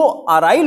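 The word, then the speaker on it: aryl: लेकिन जो अराइल होता है, अराइल की स्पेलिंग बोलिए, ए आर वाई एल, ए आर वाई एल।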